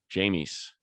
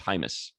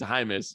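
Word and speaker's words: Jaimes: jamie's he looks good i like him i said yeah i said it's actually pronounced hymus and he said wait a minute the uh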